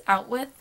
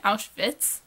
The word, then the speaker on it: Auschwitz: He kept pronouncing it as Outwith, which really isn't how the Germans would have said it. They'd have said the W like English speakers say a V, so it'd have been Auschwitz.